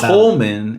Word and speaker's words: Coldman: The D is silent. And they use Coleman, and then there's a whole bit throughout the whole movie about their name.